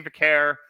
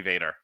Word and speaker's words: Vaquer: Stephanie Vaquer and Lola Vice defeated... Excuse me, say her name correctly. Oh, Stephanie Vader.